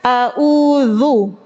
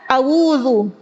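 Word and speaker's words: أعوذ: menjadi hamzah atau wau harusnya ee bacanya auzu. Auzu itu hamzah au bukan harusnya gimana? Au coba sama-sama auzu u ain ya. Ada juga yang baca awudu. Audu pakai wau. Keliru ya.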